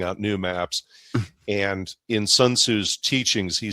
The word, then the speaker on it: Sun Tzu: to pronounce his name, Sun Tzu, or in the more Asian way, it's pronounced Sun Tzu.